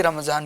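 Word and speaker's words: رمضان: तो असल इसका प्रोनाउंसिएशन है रमजान। रमजॉन। रमा दौन दौद के साथ।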